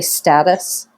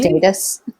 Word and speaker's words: status: And in America, we say it correctly. We say status, not Really? status.